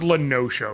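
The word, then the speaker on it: La Noscea: Next up is Bronze Lake or Drybone in Upper Lenoshia. It is pronounced Lenosho, right? Uh, you're absolutely right.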